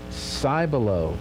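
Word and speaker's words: Cibolo: something for you okay cyber low springs hey we know how to say it now i was like what he said s and then i sigh sigh below okay i was like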